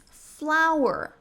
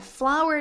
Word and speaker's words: flour: Flour. Mas, Naira, flour não é flor?